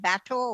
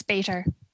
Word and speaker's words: Bator: I'm sorry, Kendra, if I pronounce it, is it Bateau or Bater? It's Bater. Bater.